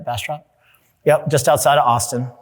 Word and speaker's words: Bastrop: Did I pronounce that right? Bastrop?